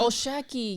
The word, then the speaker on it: O'Shaquie: O'Shea Foster? Is that how you say his name? O'Shaquie Foster? O'Shaquie.